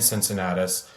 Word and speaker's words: Cincinnatus: Cincinnatus, yes.